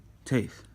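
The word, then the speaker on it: טית: And Taith is pronounced like a strong T, like t, not just a normal T.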